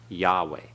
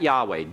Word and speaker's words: Yahweh: like it's Saturday okay both Hayes are silent Yahweh okay alright so it pronounced that Yahweh don't pronounce the vowels through there this is